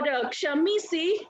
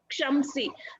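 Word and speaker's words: ಕ್ಷಮಿಸಿ: For Kshamisi, usually we pronounce like this, Kshamsi, where me becomes mother.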